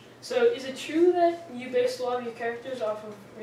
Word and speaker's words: Seuss: Yeah, this is actually kind of like a fun fact almost, because it's actually pronounced sois. Sois. Sois. Like sauce. No, sois. Sauce. Sois. Sois. Like soy sauce almost, but sois.